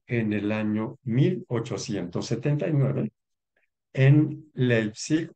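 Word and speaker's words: Leipzig: el año 1879 en leipsic o leipsic si pronunciamos a La alemana en Alemania sí nace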